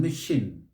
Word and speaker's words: machine: Machine. Machine. Machine. Stress is on the second syllable. You must bring it out. Machine. So it's not machine. Machine. Neither is it machine or machine. It is machine.